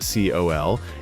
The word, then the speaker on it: CEOL: The name CEOL, pronounced COL, even gave it the playful nickname Kiss from a Rose.